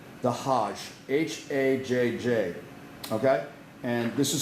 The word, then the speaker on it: hajj: what this pilgrimage is called it's called the hajj h-a-j-j okay and this is something that every